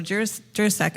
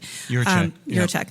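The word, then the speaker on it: Jiříček: My question though is, and I might be a little sentimental, but first of all, so Jurasek, I don't say his name properly. Juracek, thank you.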